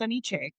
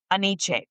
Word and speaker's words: AniChe: So I put them together and it's AniChe.